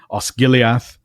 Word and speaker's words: Osgiliath: So Gildor, Gilrain, Osgiliath, they all begin as in the English guild.